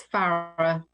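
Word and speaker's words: Farrer: Did I pronounce that right? Farrar and Company? It's Farrar. Farrar, okay.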